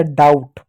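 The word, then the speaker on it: doubt: को आ plus O B silent रहेगा बी को नहीं पढ़ते क्योंकि कि जब कभी भी बी के बाद टी आए किसी भी शब्द के अंत में तो बी साइलेंट होता है और एम के बाद अगर बी आए तो वहां पर भी बी साइलेंट होगा। ठीक तो टी का क्या ट हो गया हो गया डाउट डाउट ठीक है प्यारे बच्चों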